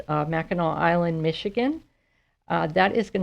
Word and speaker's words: Mackinac: If you Google it, remember that Mackinac is spelled very strangely. It's Mackinac.